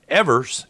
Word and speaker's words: Evers: Oh, and I understand I believe Evers is pronounced like beavers but without the B.